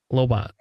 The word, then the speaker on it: Lobot: Lobot. The name of the guy. Lobot. All right. Just check. Is that not how it's pronounced? No, you you're right. pronounced like the O like a lot.